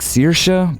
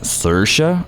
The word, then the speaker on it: Saoirse: doesn't help an Irish it seems to be pronounced more like Saoirse but others seem to say it a bit like Saoirse or Saoirse I'm telling you this issue has caused so